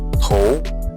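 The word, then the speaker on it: 头: Huruf ketiga cara bacanya adalah tou. Jadi T tambah O dan U. Ingat T-nya itu dibaca sebagai ke alias TH. Jadi TH tambah O dan U jadi tou, ya artinya kepala.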